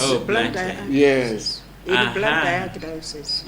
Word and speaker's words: Blantyre: Is that how you pronounce Oh, it? Blantyre.